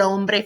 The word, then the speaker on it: hombre: la mujer la mujer now back to el hombre for one second remember we need to do that silent H el joven lock oven